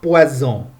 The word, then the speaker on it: poison: S au milieu d'un mot. il est prononcé z. Exemple, un poison. Z.